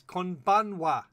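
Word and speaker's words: こんばんは: It's konbanwa. Oh, wow. Konbanwa. All right, and with this, now that I've finished correcting Sanji's pronunciation, also everyone can say hello to Alain from BMC Studio.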